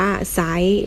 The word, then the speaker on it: ไซร้: โทร ใส นะ คะ คำ นี้ อ่าน ว่า ไซร้ เรา ไม่ อ่าน ว่า จะ ไลค์ นะ คะ ต่อ ไป ศ.